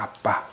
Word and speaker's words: 아빠: 아빠. 아빠. 이게 여기 안에 들어가면은 이게 바 발음이 아니라 빠 발음이 되거든요.